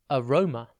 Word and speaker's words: aroma: Today's word is aroma. It's pronounced a-ro-ma, and it is spelt A-R-O-M-A. Think arrow and then ma.